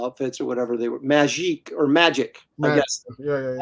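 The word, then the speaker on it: Magik: It was all this sort of just their motorcycle outfits or whatever they were, magic, I guess. Yeah. I always called her Magique, but it's actually pronounced magic.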